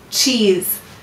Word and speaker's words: cheese: And what sound of z, z do you hear in cheese? That's right, the second. Oh, and why do we have a silent e in cheese? You're right, it's to keep it from ending in s because we don't want it to look like it's a plural word.